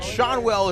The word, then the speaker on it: Shanwell: Yes, we've been told Shanwell is the correct pronunciation.